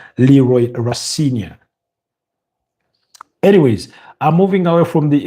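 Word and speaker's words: Rosenior: Although some people pronounce his name as Rosinia. Liam Rosa. But I I pronounce it because that's how I heard his dad pronounce his own. Leroy Rosia.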